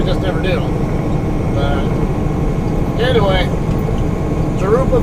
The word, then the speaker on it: Jurupa: But anyway, Jurupa Valley, or Jurupa Valley, is the proper way to pronounce it.